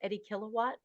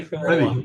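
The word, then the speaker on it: Reddy Kilowatt: And I remembered Small World, and I remember I'm going to say his name wrong, but I think it was Eddie Kilowatt. Was that the yeah, Ready Ready, Kilowatt.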